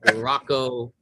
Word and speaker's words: Rocco: Like Rocco. How do you say your name before I answer your question real quick? That's exactly how you say it.